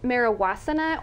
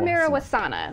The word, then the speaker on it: Marijuasana: Well, it's pronounced Marijuana or Marijuana. Like it's okay. Like I'll take both. I like that. But it's basically marijuana and asana.